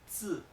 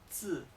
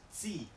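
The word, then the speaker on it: zì: En estos casos, la I casi no se pronuncia. Suena un poco parecida, suena entre una E, una I, pero muy breve, muy leve. Veréis. Esto, por ejemplo, lo vamos a hacer con un tono cuarto, se pronuncia zi, zi, zi. No es zi, zi, una I española, no.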